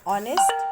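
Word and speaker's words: honest: ऐसे ही ऑनेस्ट man, same हो गया, ऑनेस्ट। अगर ऑनेस्ट प्रोनाउंसिएशन के बेसिस पे लिखेंगे तो ऐसा होगा, तो फर्स्ट लेटर क्या है, वॉवेल। अब यहाँ देखिए, यूनिवर्सिटी है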